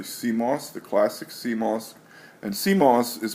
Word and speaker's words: CMOS: counter chip the Coss the classic Coss and Coss is pronounced like moss from the sea but it